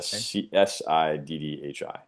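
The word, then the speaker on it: siddhi: It's spelled si di. City. Yeah. City. Accomplishment or power. Yes. Si dhi.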